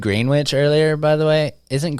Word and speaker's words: Greenwich: Yeah, well, I mean Greenwich, it's spelled the same way. No, it's not. Is it not? No. Oh, it's Greenwich, like Gren, huh? No, it's green, WICH. Ah, good point. Yeah, like a sandwich.